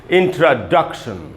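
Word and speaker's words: introduction: तो इसमें यहीं पर स्ट्रेस है, यानी ड में जो अ है उधर ज़्यादा रुकना है हमको, और हमको इसको पढ़ना चाहिए इंट्रोडक्शन। इंट्रोडक्शन, ये दोस्तों इसका शुद्ध उच्चारण है इंट्रोडक्शन, न कि इंट्रोडक्शन, इंट्रोडक्शन।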